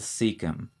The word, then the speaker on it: cecum: beginning of the large intestine that is the cecum c-e-c-u-m what is the term for the first